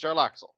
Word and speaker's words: Jarlaxle: Yeah, it's Jarlaxle.